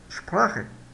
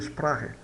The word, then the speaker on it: Sprache: Wir lernen einen eine Sprache. Ve aqui como é que se pronuncia sprache. Wir lernen eine Sprache. Tá bem claro que tem soa como se sprache, como se fosse o R de carro, tá?